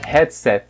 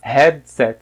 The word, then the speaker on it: headset: que a gente fala a pronúncia original é headset headset mais uma vez no finalzinho não é forte é fraco ou então reto tipo